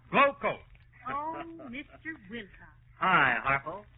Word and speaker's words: Glo-Coat: And GLO-COAT is pronounced Glowcoat.